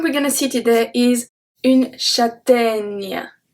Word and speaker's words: châtaigne: The first one we're gonna see today is une châtaigne. Can you hear the E at the end? Une châtaigne. Nya. Nya. Does that make sense?